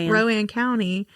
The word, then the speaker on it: Rowan County: Rowan County.